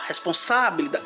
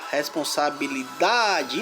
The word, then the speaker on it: responsabilidade: A palavra responsabilidade, qual é a sílaba forte de responsabilidade? Vamos lá, 10 segundinhos para vocês. Pessoal, quem falou que é responsabilidade, tá errado. A sílaba forte é da responsabilidade.